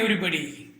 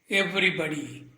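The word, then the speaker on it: everybody: Good morning എവരിബഡി. നിങ്ങൾ ശ്രദ്ധിക്കേണ്ടത് എവറി എന്ന വാക്കിൻ്റെ ഉച്ചാരണം എവരി എന്നോ അല്ല എന്നാണ്. എവറി എന്ന് പറഞ്ഞ് പരിശീലിക്കുക. എവറി, എവറി, എവറിബഡി. എവരിബഡി എന്ന് പറയാതിരിക്കുക.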